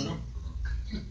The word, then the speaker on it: Brno: It's spelled B-R-N-O, pronounced Bruno.